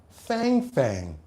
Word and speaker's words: Fang Fang: You heard it correctly. Fang Fang.